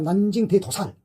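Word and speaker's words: 南京大屠杀: 1937년에는 중국 사람들은이 어 난 대학살러 이렇게 부르죠.이 이정확하게 중국식 발음이 난징 대도살 우리는 이제 도살이란 말은 짐승할 때만 써먹으니까 대학사라 그러는데 여튼 중국인들은 그 난징대 도사르라 그래요.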